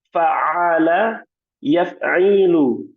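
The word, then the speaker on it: فَعَلَ يَفْعِلُ: Fa'ala yaf'ilu. Nah, saya tekan di situ di huruf ainnya. Nah, pengucapannya saya tekan fa'ala yaf'ilu.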